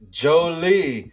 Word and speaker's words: Jolie: It's pronounced Jolie. Like Angelina Jolie, you know, if you want to see an awesome movie, go watch Gia.